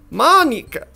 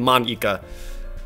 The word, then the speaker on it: Monika: Monika. That's not how you say my name at all. Also, that joke makes no sense in translation.